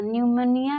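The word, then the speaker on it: pneumonia: Rule है एन तथा एस से पहले पी हो तो पी साइलेंट रहता है। फॉर एग्जाम्पल न्यूमोनिया, न्यूमोनिया में एन से पहले पी है, इसको पी न्यूमोनिया नहीं न्यूमोनिया पढ़ते हैं।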